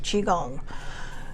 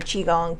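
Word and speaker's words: qigong: So, and now if you look up chiong, you got to look it up under qi cuz that's how it it's spelled. Qi, chiong. And then just gong, like the gong show.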